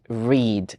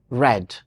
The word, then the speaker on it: read: tense it is pronounced read and a Tres with read read and how about in the past in the past it is pronounced red and it trimes with